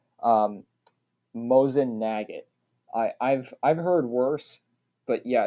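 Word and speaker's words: Mosin–Nagant: Guns like the Mosin Nagin would do just fine, although It's pronounced Mosin Nagant, but I can see why somebody not in the firearms community would get that wrong.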